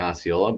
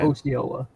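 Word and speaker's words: Osceola: It's pronounced differently in Indiana. Okay. Oola. Oola. Got it. In Michigan it's Oyola.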